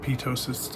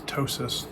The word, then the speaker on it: ptosis: It's not pitosis, it's ptosis. The P is silent.